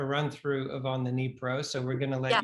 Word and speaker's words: Dnipro: It was then titled On the Dnieper, and he's since changed that name to On the Dnipro to reflect its Ukrainian spelling and pronunciation.